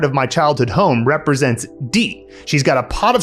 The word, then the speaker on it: 地: So this character is pronounced D.